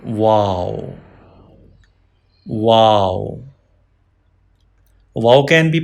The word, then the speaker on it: و: Round your lips for pronouncing wow.